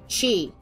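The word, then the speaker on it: χ: is Kingdom Hearts cross it's actually not cross nor is it X it's Chi I you not it's supposed to be pronounced Chi uh yeah because since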